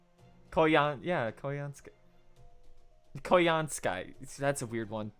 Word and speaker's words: Koyanskaya: It's Koyanskaya. Wait, what? Didn't she say? Koyanskaya. Koyanskaya. That's a weird one. That's pronounced pretty much the same way.